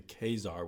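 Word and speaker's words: Ka-Zar: I still have to think Khazar and then translate to Khazar, which I learned was the way Stan Lee pronounced it, and I guess everyone else does.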